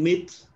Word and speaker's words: myth: The old myth seemed to miss the point.